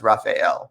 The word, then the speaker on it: Raphael: pronounce my name and i wasn't sure whether it was raphael or raphael or raphael it turns out it's raphael so um nice to